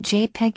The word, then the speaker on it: JPEG: i.e opera and safari the jpeg typically pronounced jpeg image format is currently